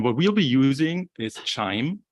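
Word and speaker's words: QIIME: we'll be using is chime um pronounced like wine time wind chime was created around in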